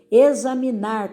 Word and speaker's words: examinar: Examinar também, ó, examinar.